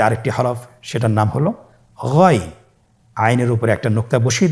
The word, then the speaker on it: غين: এখান থেকে উচ্চারণ করুন গইন। আবার বলুন গইন। আমরা অনেকে বলে থাকি গাইন, না, এটা ভুল উচ্চারণ। এভাবে উচ্চারণ করা যাবে না, যেহেতু হরফটি মোটা, এই জন্য মোটা করে উচ্চারণ করতে হবে গইন।